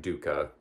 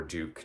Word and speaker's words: dukkha: So it's like dukkha or duke, depending on how you pronounce it, but using that Buddhist sense of that.